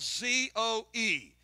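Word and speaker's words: ζωή: the Bible, and that is the Greek word zoe. It's spelled Z-O-E.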